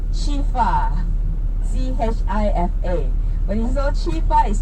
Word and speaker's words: chifa: You know why they call chifa like 吃饭, 吃饭, chifa, chifa. Ah, that's the pronunciation. So because they cannot pronounce it correctly, they say chifa, chifa, chifa, chifa, right?